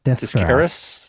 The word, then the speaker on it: Descaras: Yeah, one d e s c a r a s. Desaras.